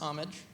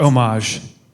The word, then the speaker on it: homage: So it's pronounced homage. Yes. We did it. Yes. All right. Or homage, but the H is silent.